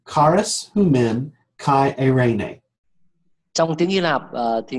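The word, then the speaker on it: χάρις ὑμῖν καὶ εἰρήνη: In Greek it is pronounced charis humen kai eirene.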